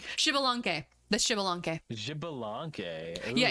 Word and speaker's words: Xbalanque: I only know how to pronounce that because they were playable in Smite, so I know how you say it. It's Xbalanque.